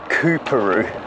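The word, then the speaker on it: Coorparoo: is coru Secondary College I should pronounce that Karu here we go all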